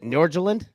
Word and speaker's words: Nordsjælland: Is that how you pronounce it? Nordsjælland?